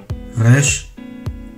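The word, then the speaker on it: ריש: 레쉬, 레쉬, 레쉬, 레쉬. 헤트와 같이 한국에서 발음하기 어려운 글자입니다. 그냥 R 발음이나 스페인식 R 발음으로 가르치는 경우도 있지만 레쉬는 목에서부터 끌어올리는 발음의 느낌으로 발음해야 합니다.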